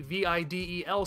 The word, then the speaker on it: Videl: from each other but at least one of them catches that elongated e sound it's basically the same